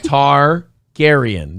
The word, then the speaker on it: Targaryen: Targaryen. That's how you say it.